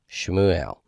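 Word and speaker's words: שְׁמוּאֵל: lammott she mu L every continent besides the last one has a vowel or Shiva Xin has a Shiva mem has a Sharik olive has a ser e mu L shumou ale okay and then we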